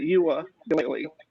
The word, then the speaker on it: Uiagalelei: But I'm gonna have to see how DJ Uiagalelei, that's how you say it, Uiagalelei, does in the first quarter.